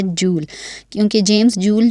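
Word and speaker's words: joule: और ये जो वर्ड है जूल, इसको मोस्टली लोग जाउल रिप्रेजेंट करते हैं, बट इसकी करेक्ट प्रोनाउंसिएशन है जूल, क्योंकि जेम्स जूल जो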